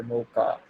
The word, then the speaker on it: Mocha: And in early days इसका नाम JavaScript नहीं था, इसका नाम था Mocha or Mocha. I think Mocha is the right pronunciation. Mocha sounds like a coffee, but yeah, it was a language.